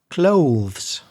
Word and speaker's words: clothes: An interesting one, I think, is clothes. I'll spell that word for you.